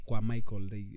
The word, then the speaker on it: Kwamaiko: It's basically called Kwamaiko. Yeah. Or Kwamaiko, and then it turns Kiamaiko. No, I'm saying it wrong. It's Kwamaiko. Kwamaiko.